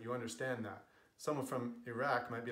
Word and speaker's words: Iraq: Iraq and Iran are how those words are pronounced in English. In Arabic and Persian respectively, they are Iraq and Iran.